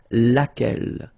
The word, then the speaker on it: laquelle: so basically same rule, QU, U is not pronounced here, and then you get this double LE, well, phonetically here, it is the same as what we have here, so laquelle.